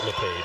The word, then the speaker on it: Lepage: It is pronounced Lepage.